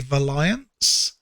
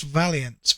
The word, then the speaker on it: Valiance: watch uh their stream, they'll call me Valions. Many do get it right, which is Valiance. It's It's pronounced Valiance, my name, and but quite a few people do call me Valiont.